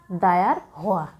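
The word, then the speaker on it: diarrhoea: মূলত ডায়রিয়া শব্দটির উচ্চারণ কিন্তু ডায়ার হওয়া। ওকে, ডায়ার হওয়া।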